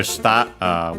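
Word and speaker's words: 下: That one is accent on the syllable. This one is an accented and it means the opposite of ue.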